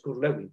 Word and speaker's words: Kurt Lewin: La investigación acción participativa surge de su creador, Kurt Lewin. Aquí lo pronunciamos Kurt Lewin, pero él es de origen alemán. Se pronuncia Kurt Lewin, como Ludwig van Beethoven, recuerdo.